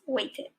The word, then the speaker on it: waited: plural like for example the word waited we pronounce it as weighted the word in fight